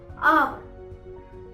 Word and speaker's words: hour: हम कुछ एग्जाम्पल्स देखते हैं, जैसे HOUR, आवर, यहाँ पर एच साइलेंट है।